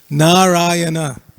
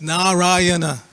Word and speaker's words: Narayana: Many people say Narayan. It's not Narayan. It's Narayana. Everybody say Narayana.